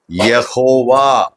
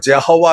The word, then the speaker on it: Yehovah: இன்னைக்கு இருக்கிற Hebrew scholars அது மறுபடியும் நிறைய ஸ்கிரிப்சருங்கள் எல்லாம் படிச்சு அவங்க என்ன சொல்றாங்க, யாவே கிடையாது. இன்னைக்கு யாவே ப்ரொனவுன்ஸ் பண்றாங்க, யெகோவா. என்ன பேருங்க, யெகோவா. ஜெஹோவா கிடையாது, அது நம்ம இங்கிலீஷ்ல ஜெஹோவா. யெகோவா, யெகோவா. YEHOVAH.